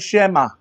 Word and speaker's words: Shema: So ang tawag nila dito ay shema. Everybody say shema. S h e m a. Shema.